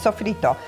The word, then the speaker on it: sofrito: Now, this is called in Italian culture and in actual Latin cultures, sofrito. Pronounce it a little differently in both languages, but it's sofrito.